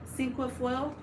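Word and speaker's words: cinquefoil: I can't pronounce the word that they say it is. foil. Sinqua foil.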